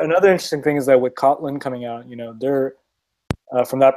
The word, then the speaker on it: Kotlin: I was going to ask if you, on the topic of Kotlin, that's pronounced? Yeah, Kotlin.